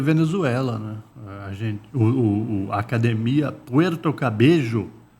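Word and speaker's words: Cabello: A academia Puerto Cabejo. Escreve cabelo, mas... Eu ia falar cabelo, mas eu falei, essa pronúncia é estranha, né?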